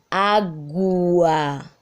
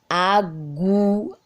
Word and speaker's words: água: Diferente da palavra água. Ó, água. Perceberam? Agua. O U nesta palavra tem som, portanto não é dígrafo consonantal.